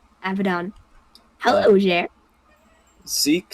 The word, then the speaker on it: Abaddon: woke up with them is that how you pronounce it yes abadan Abaddon hello there Zeke says I should ask more